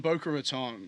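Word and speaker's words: Boca Raton: um but it's in Boer Raton is that how you say it B okay I was saying it saying it right this yeah you there you there you got it um but it's it's an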